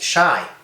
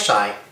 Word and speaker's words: Shai: My name is, pronounced Shai. Yeah, my name is Shai, which is Hebrew for gift.